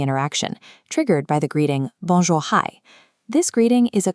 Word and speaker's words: bonjour: The most effective input is an instant flat Quebecois bonjour. Keep the second syllable short and clipped.